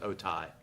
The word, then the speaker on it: Otay: Moss Landing and Otay Mesas, how it's pronounced, Otay.